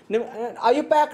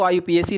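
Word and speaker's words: IUPAC: Question number 46 कहना चाहता है कुछ आयुपैक नेम। कई लोग इसको आयुपीएसी नेम बोलते हैं, लेकिन इसका सही प्रोनाउंसिएशन है आयुपैक।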